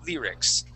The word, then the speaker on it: lyrics: Go lyrics yeah so that that Y is going to have more of a long e sound to it Lear lyrics okay and uh let's